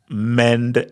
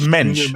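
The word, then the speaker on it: Mendes: Um, Nate, definitely not mend as in Portuguese. They said it right. Exactly. So, okay. So, so what is it? So, it's mench.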